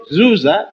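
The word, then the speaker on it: Djoser: Dynasty under the pharaoh zuza d-j-o-s-e-r otherwise called sir s-e-r which the Greeks could not pronounce and they called dooza d01 amen this man the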